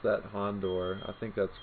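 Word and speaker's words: Houndour: for Cubone that Cubone let's see Hond I pronounced that hondor I think that's correct Hound Hound hour Hound hour okay see there we go apparently I do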